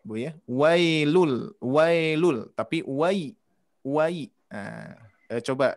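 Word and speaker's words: ويل: Nah ini dibacanya jelas i ke i ya. Jangan sampai sedikit pun nanti terasa Bu. Wailul, wailul, wailul, wailul. Tapi wai.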